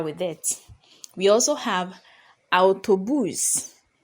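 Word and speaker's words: autobús: it we also have autobus autobus so the A and the U are pronounced separately not o as we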